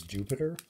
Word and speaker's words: Dewpider: So from what I heard, the official pronunciation of that is Jupiter. Which I have to think is dumb because it's literally a spider, and Piter is how it ends the name. Why is it not Dupiter?